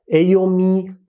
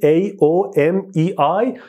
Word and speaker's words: AOMEI: نرم افزاری که من امروز میخوام برم سراغش اسمش هست AOMI Partition Assistant. این لغتش هم میذاره سخت تلفظش، من رفتم چک کردم که این بار درست بگم. AOMI, AOMEI Partition Assistant.